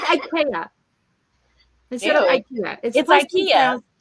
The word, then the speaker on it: IKEA: Ikea instead of Ikea Ikea nuh uhuh wrong for a guy who was from Germany and he was in Ikea and that is tradition that is the correct Swedish pronunciation of it and so I'm talking